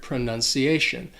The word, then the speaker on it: pronunciation: fittingly is the word pronunciation now there are two things about this word that could be a little tricky first that c actually sounds like you're saying the letter c pronunci and the word ends